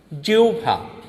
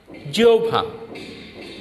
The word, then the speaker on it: জিহ্বা: হয় এর পর বফলা থাকলে হ যোগ বফলা ও উচ্চারিত হয়। যেমন ও ভ, দেখো হয়ের পরে বফলা থাকলে হ যোগ বফলা এই দুটো মিলে ও ভ ও উচ্চারণ হয়। যেমন বর্গীয় জয় রস্যি হয় বফলা আকা, এর উচ্চারণ হবে কি? জিহ্বা। জিহ্বা। জিহ্বা।